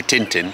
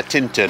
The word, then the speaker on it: Tintern: and say things right tin don't say Tintin cuz that's Tintin her Adventures of Tintin so yeah Tinton I think that's the correct way to say it so where we're